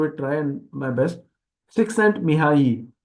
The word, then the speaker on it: Csikszentmihalyi: Csikszentmihalyi, that L is silent.